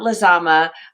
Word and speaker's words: Lizama: and advertising and we have with us lazama of captiva branding from washington dc welcome thank you congratulations on pronouncing my name correctly my maiden name is